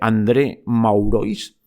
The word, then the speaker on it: André Maurois: relato, que os digo, André Magloire, supongo que se dice así, dicho tal como se pronuncia, André Maurois, por si hay algún francés que se escandaliza, y el libro se llama Historia de los Estados Unidos.